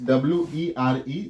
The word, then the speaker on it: were: वी consider this W-E-R-E, the ucharan of the pronunciation of this W-E-R is the were.